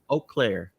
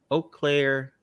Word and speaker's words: Eau Claire: have a family and uh how do you pronounce it again you click earlier eau claire yep okay eau claire uh in wisconsin yep hello wisconsin bet everybody